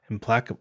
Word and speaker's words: Implacable: How do you say that, Stan? Yasharn Implacable Earth? Implacable, yeah.